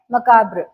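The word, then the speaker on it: macabre: ए बी R okay तर याच प्रोनन्सशन काय आहे मकाब्र काय आहे एम ए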